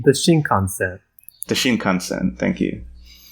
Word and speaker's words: Shinkansen: And I'm going to mispronounce it. It's like the Shingan? The Shinkansen. The Shinkansen, thank you.